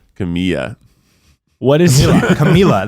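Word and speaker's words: Camila: Camilla. What is Camilla. You pronounce the L, guys. Camilla. No, it's Spanish. It's Camilla. But it's one L. Oh no, Bella. that's only if it's 2 L's.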